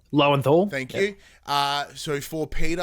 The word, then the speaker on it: Lowenthal: I think the performance driven by Yuri, whose last name I can never pronounce. Lowenthal.